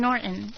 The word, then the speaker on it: Norton: Jim Norton. Okay, see, that's right. You have like the sound in Norton. You don't hard the T.